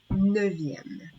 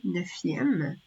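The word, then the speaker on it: neuvième: Pour le chiffre 9, qui se termine avec un F au contact de la voyelle, on va naturellement prononcer un V. Donc, on va dire 9e. Ce serait difficile de prononcer 9e. Naturellement, on va adapter et on va utiliser la prononciation du V, qui est beaucoup plus facile, plus naturel.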